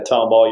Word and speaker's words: Tomball: And y'all got married down in Tomball, Texas. I probably didn't say that right. Yeah, Tomball, yes, sir.